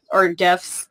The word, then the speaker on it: GIF: when we cut those GIFs, we can GIFs, you can upload them. Hard G, come on. Hard G. The GIFs. The creator said it's GIF, so that's why I'm GIF.